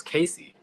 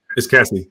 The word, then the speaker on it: Cassie: was you saying Tosh I thought her name was Casey it's Cassie it's Cassie yeah Cassie Cassie